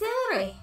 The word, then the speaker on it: Yuri: Thanks, Yuri. I'm not sure if Yuri sees the full picture of my motive here. Quit rolling your tongue. You keep going rolling. It's Yuri. It's Yuri.